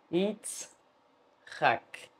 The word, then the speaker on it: Yitzhak: Nós temos Yitzhak. Yitzhak. Deixa eu confirmar aqui. É isso mesmo. Yitzhak.